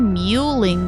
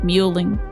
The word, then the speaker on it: mewing: It's spelled like you would expect. Muing. No, muing. M E W, not mingling.